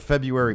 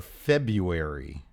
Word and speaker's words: February: Every day this week, I got to give the shout outs for February. Why don't they pronounce it February? Because that's how it's spelled.